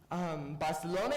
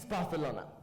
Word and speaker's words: Barcelona: Castilian Spanish is pronounced very different than English. Barcelona is Barcelona. San Jose is San Jose.